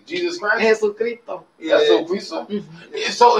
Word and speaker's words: Jesucristo: Jesucristo.